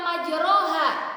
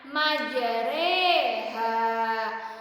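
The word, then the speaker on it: مجريها: Dibacanya bukan majroha, tapi apa dibacanya? Majreha.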